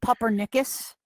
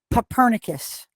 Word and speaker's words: Copernicus: And just so you know, because everybody calls him Puppernicus, his name's Copernicus. like Copernicus, but Puppernicus. Straight from the source, all right? There's no... Let there be no more debate. Everybody pronounces his name wrong.